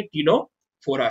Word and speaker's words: Ctenophora: इसमें भी सी साइलेंट है, हम सी को नहीं पढ़ेंगे, हम कहां से स्टार्ट करेंगे? टीनोफोरा से।